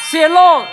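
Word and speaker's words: Cielo: เขา เขียน ว่า อะไร c i e l o อ่าน ว่า เสี่ย โล่ เซียโล่ แล้ว อย่าง เงี้ย ผลิตภัณฑ์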